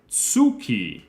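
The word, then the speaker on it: つき: the moon is it Suki exactly Joy exactly that is how you pronounce moon in Japanese it is suuki very good that's why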